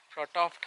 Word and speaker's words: Frotoft: Alright, we have arrived here at the old Frotoft Hospital. I need to pronounce it correctly. It's Frotoft, F-R-O-T-O-F-T. So this is where we are going to leave our vehicle and start the trek towards Chariot Path.